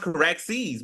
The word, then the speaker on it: Caraxes: So this one was at the castle and it's called Carxus. Yeah, yeah, that's right, Jerry. That's pretty good. All right. It's pronounced Caraxes, but yeah, that's the Yeah. right dragon. And it's Caraxes.